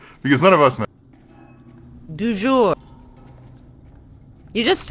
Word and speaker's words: du jour: How do you pronounce it Yeah. properly, Alex? For the record, because none of us know. Du jour.